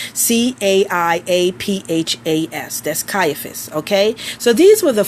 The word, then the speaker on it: Caiaphas: writing this down see AI a PHAs that's Caiaphas okay so these were the four types of